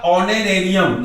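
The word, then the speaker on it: honorarium: ऑनरेरियम। देखिए ऑनरेरियम मतलब आ से स्टार्ट, इसको एच है तो ह नहीं पढ़ते, इसको आ से पढ़ते हैं। इसमें जो फर्स्ट लेटर है ये पूरे साइलेंट रहते हैं।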